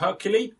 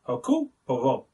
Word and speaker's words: Hercule Poirot: It's not Hercule. He does not fight lions. It is Hercule Poirot. I don't know why I do the accent when I say it, I'm sorry, but I just have to pronounce it like that.